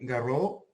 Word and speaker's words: Garreaud: Now I want to give the microphone to Dr. Garreaud from the Universidad de Chile. I don't know if I've pronounced your surname correctly. That's correct. We look forward to hear